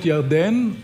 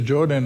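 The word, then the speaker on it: ירדן: from Chicago B we we we call it jardan and Jordan is the English where pronunciation but um but it's it's every time when we cross the Jordan or whatever it's it's it's meaningful because after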